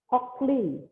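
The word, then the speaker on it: cochleare: Cara bacanya Cochlear, ya.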